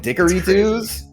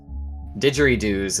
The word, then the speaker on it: didgeridoo: And dickory-doos? Didgeridoos is how you say it, but also, yes, there is one.